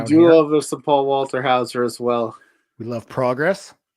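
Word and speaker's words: Walter Hauser: We do love some Paul Walterhouser as well. We love Progress. I said it right this time. You did. I didn't call him Walkerhouser.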